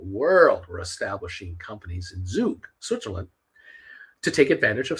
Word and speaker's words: Zug: there's a city in Switzerland called Zug which is spelled z-u-g-z-u-g zuke um there's a company there uh I mean